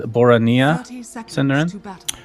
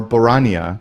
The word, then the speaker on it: Boronia: the correct pronunciation is boronia i got another tweet did you yes which says both are correct it can either be boronia or borania depending on which accent right he thinks because